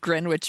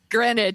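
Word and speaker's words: Greenwich: an Orange Julius in grenwich Village Gren Village greenic thank you I always mispronounce it every time uh because his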